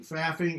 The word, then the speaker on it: faffing: me that fluffing it's like laughing and it you say it like laughing and it's legit and you can actually say it in public right so laughing faffing you say it like laughing faffing like laughing so that's my name